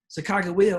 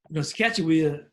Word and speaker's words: Sacagawea: Sacagawea or Scatchewea, depending on how you want to pronounce it, is very famous in the Northwest.